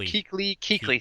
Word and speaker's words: Kuechly: I've heard it Kuechly.